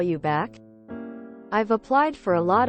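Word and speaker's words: Bapak: is Indonesian an Indonesian calling someone BAC pronounced almost the same as papa is the same thing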